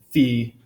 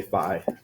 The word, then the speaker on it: phi: things wrong anyway so always say fee other people generally say fi and a few people